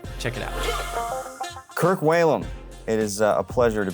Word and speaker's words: Whalum: And thank you for saying Whalum. It's funny, the way my name is spelled, I get all kinds of things.